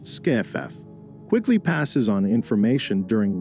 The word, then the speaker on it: SCIF: secure compartmentalized information space commonly known as scif pronounced skff quickly passes on information